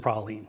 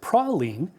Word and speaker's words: praline: There's also a Belgian praline, which is a kind of a chocolate truffle. Finally, while folks in Louisiana tend to pronounce it praline, a Texan might be more likely to pronounce it praline.